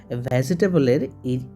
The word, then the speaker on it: vegetable: কিন্তু আসলে এই শব্দটা তোমরা যখন উচ্চারণ করবে, আসল উচ্চারণটা হবে 3টা সিলেবালে। ভেজিটেবলের ই শব্দটা আছে, ই ভাওয়েলটা, জি এর পরে ই ভাওয়েলটার উচ্চারণ হবে না। সো উচ্চারণটা হবে এরকম, ভেজিটেবল, ভেজিটেবল।